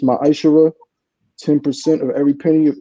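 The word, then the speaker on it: מַעֲשֵׂר: Means tenth in Hebrew and is pronounced ma'ashara.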